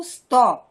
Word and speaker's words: स्तः: বালকৌ স্ত। হ্যাঁ, বালকৌ স্তः। যখনই আমরা দ্বিবচন করব তখন ক্রিয়াপদের কিন্তু চেঞ্জ হয়ে যাবে। বালকৌ স্তः। স্তः না, স্তः বিসর্গ আছে না, তার উচ্চারণ করতে হবে।